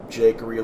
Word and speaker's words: Jakeery: how do I pronounce jakeery like it's my name Jake plus that's that so I will see you all next time yep jQuery like a bakery see you all next